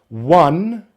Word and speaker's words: one: One sun two few three key four door five dive six licks seven heaven eight late nine time ten men.